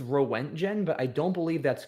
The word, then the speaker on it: roentgen: I think the pronunciation is rentgen. Let's see. Let's hear it. rentgen, but there are other potential pronunciations on this page. Uh runtgen runtgen also possible and rentgen apparently.